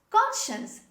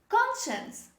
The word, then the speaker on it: conscience: me so this is conscience say with me conscience the second letter c is dropped when we say this word say with me conscience